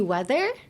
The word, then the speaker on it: whether: So I think the hardest one here would be weather. Would it be? Just because there's a couple English terms that have the same pronunciation. So weather used in this context and weather as in tenki, like weather. And it's the same. It is the same. So weather. The TH sound is difficult.